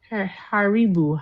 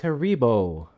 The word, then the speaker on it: Haribo: Um, I would um haribu Harabu. It's Haribo.